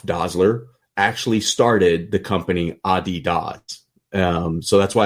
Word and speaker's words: Adidas: Puma and it's actually Adidas is how it's pronounced. I learned people think of as Adidas. So the founders of Adidas and Puma were brothers, and they had a company together, and then they started feuding.